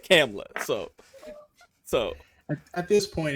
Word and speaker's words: Kamala: and they call her Kamala. nah. They said Kamala, so. At this point, it's anything but Kamala. Yeah, don't say it with the H, the HA at the end, because that's how I thought it was said.